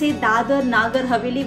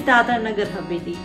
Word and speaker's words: Dadra Nagar Haveli: Haveli is its pronunciation Sometimes they pronounce Dadra as Dadar They confuse it with Mumbai's Dadar area.